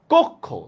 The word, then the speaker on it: কক্ষ: যেমন দেখেন, কক্ষ। দেখছেন? কক্ষ উচ্চারণে কির উচ্চারণটা কি হবে? ক, হসন্ত, খ ও ঔকার।